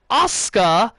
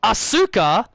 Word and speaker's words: Asuka: the same country where they will say ASCA instead of Asuka and they'll say shinuk